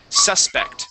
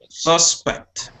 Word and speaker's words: suspect: another word here okay this word is suspect the accent is at the beginning of the word right here okay suspect try that suspect suspect good one more